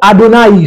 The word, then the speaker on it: Adonai: A, D, N, I, que nous prononçons Adonai, ce nom veut dire Seigneur.